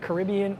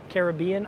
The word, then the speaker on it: Caribbean: Are you asking about Caribbean or Caribbean? I've heard it both ways, depending on the dialect.